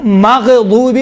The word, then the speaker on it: مغضوب: اسی طرح غیر المغضوب علیہم، دیکھیں مغضوب غین میں قلقلہ نہیں ہے، لیکن تلفظ کرتے وقت کیا کہتے ہیں؟ مغضوب علیہم. ماغ نہیں ہے.